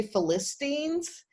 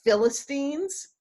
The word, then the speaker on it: Philistines: may trip over in class i may say philistines but it's pronounced philistines and that's because of having bible stories read